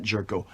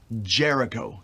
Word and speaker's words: Jericho: Chris Jerico uh Jericho jerko not jerko Jericho three syllables Jericho oh like the Bible exactly the walls of